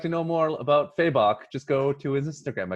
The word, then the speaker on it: Fabok: or yes jason faber fabok well i think the way he pronounced it in his instagram story as of late is uh feybach right on yes thank